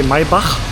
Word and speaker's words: Maybach: In German we say Maybach, but I'm sure that's not how we say it in English.